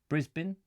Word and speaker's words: Brisbane: in the day Richard it's not as bane we say Brisbane Brisbane Americans say Brisbane alright ok Brisbane Brisbane